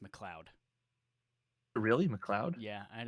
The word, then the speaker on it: MacLeod: make any sense but m-a-c-l-e-o-d is pronounced mcleod really mcleod yeah i